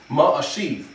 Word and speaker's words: Ma-Ashiv: It's Ma-Ashiv.